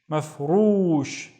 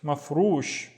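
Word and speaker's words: مفروش: So maf, and then roosh. Mafroosh. The ru is twice as long. Mafroosh means furnished. Mafroosh.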